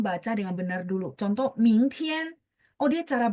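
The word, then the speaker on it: 明天: Contoh, 明天. Oh, dia cara bacanya begitu ya. Ming berarti 2. Tian, oh, tian 1.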